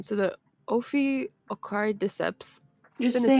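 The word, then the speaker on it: Ophiocordyceps: try to pronounce this name but forgive my pronunciation so the Opie akari decepts you're gonna see how you spell it then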